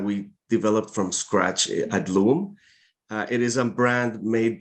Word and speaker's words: LUUM: So LUUM, I think the correct pronunciation would be more like LUUM. Okay. It's a Mayan word from the northern part of Guatemala, and it means earth.